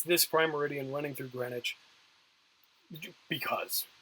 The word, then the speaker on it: Greenwich: runs through Greenwich England that it looks like Greenwich it's pronounced Greenwich because it's you know it's British thing it's